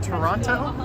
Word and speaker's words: Toronto: It's good to be back in Toronto, a city where I sometimes pronounce the second T when I say it, but not always.